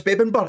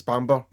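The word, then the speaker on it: Bamburgh: But no, it's Bebenber. It's Bebenber. No, that's the Norwegian way of saying it. It's Bamber. Bamber Castle.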